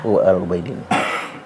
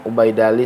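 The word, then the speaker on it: العبيدلي: Kitab Tahdzibul Ansab, ya, karangan Imam Al-Ubaidali ya. Al-Ubaidili. Atau ada yang bilang Al-Ubaidili, terserah itu mah. Ya. Saya mah enakannya bacanya Ubaidali sih.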